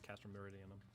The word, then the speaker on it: Castrum Meridianum: Be so kind as to deliver the prisoners to Castrum Meridianum. Yes. Oh, hey, I've been saying it right. It is Castrum Meridianum.